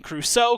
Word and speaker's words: Crusoe: it robinson cruz but it's pronounced it's still pronounced crusoe so it's still fine i just can't win